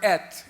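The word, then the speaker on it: את: It's the word et, E-T-H, et. ETH라는 단어인데 at이라고 발음하는데 In the Hebrew alphabet,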